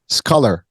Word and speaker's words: scalar: So without further ado, Tom, let's talk about your journey that got you into Scalar, right? That's the Scalar energy.